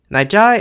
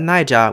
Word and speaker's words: Naija: Naija is what it's called within the language, which also means Nigeria, but don't call it Naija with both syllables in the low tone because that means Niger.